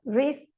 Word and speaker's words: wreath: Rap, wreath, rack, wrong, right. Então, essas letras, elas são empty, são vazias porque elas não têm som nenhum.